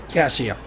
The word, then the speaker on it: Caccia: And David Caccia on the, how do you say his last name? Cassia. Very good.